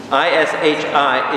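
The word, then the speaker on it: אִישִׁי: I-S-H-I, Ishi, which means my man. Ish is man, I is my, so it's being my man. Okay? Ishi. Ishai. That's funny. Ishai. I-S-H-I, Ishai, which means my man.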